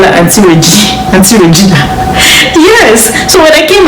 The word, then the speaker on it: Regina: It's spelled Regina. In Africa, how will you call that? This is not Regina.